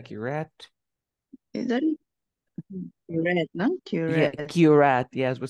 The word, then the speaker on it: curette: Curette. Yeah, curette. Yes, we say curette. This is pronunciation, of course.